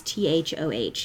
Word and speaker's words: Thoth: Yeah, I'm pretty sure it's Thoth. It's Thoth. It's not the easiest one to say.